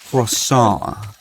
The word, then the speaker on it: croissant: say Freud Sant crociant croissant the t is silent raw salt no the